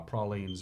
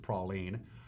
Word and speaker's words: praline: where you live uh the french call it in the new orleans along the ghost golf course gulf coast where uh pralines are readily available they're they pronounce it praline in many other parts of the country including in the northeast in texas they call it praline either way it tastes